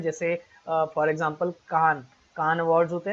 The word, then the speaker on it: Cannes: IFFI awards बहुत important होते हैं, जैसे फॉर एग्जांपल कान अवार्ड्स होते हैं ना फ्रांस के। एक्चुअली स्पेलिंग उसकी होती है कान्स, CANNES, बट इसको प्रोनाउंस किया जाता है कान फिल्म फेस्टिवल भी बहुत इंपॉर्टेंट होता है।